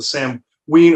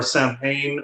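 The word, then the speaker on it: Samhain: during this time with the Sam the the Sam we or Sam Hayne or how or saw however you want to pronounce it that come through this time of year.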